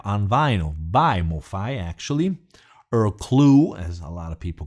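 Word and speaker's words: Earl Klugh: which I have on Vino by Mofi actually ear clue as a lot of people correct me you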